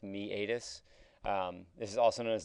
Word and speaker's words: meatus: ear the external acoustic meatus so this is pronounced me adis this is also known as the auditory canal